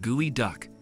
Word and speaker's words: geoduck: Last but certainly not least on our list of the world's most expensive seafood is the gooey duck clam, pronounced gooey duck.